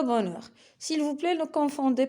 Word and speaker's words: bonheur: Aussi, on peut trouver le H dans des lettres, dans des mots, je m'excuse, qu'on ne prononce pas, comme le mot un cahier, d'habitude, aujourd'hui et le bonheur.